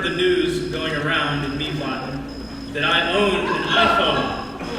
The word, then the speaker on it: Mývatn: Is it my pronunciation? No, it's not almost perfect. They're from the Mývatn region. Okay. Mývatn.